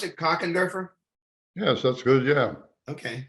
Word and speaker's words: Kochenderfer: okay how do you pronounce it cockenderfer yes that's good yeah okay did I do okay thank you sir when is your birthday September 17 1945.